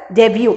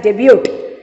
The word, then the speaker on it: debut: that is called as debut please don't say it as debut t is silent over here so you have to